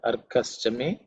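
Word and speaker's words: Arkaścame: Arkaschame, Arkaschame, Arkaschame. It should be rather simple to pronounce. There are no aspirated consonants.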